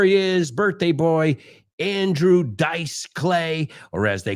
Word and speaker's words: Dice: And number three, Andrew Dice Clay. Hey, we looked at the word dice before, and we said it's not pronounced like dies.